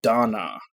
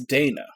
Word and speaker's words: Dana: 8 for example like they pronounce it Donna it's Dana like that's that's a that's an English name it's Dana now if they said